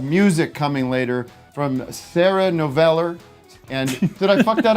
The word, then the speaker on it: Noveller: We have music coming later from Sarah Noveller. And did I fuck that up already? Just Noveller. Noveller.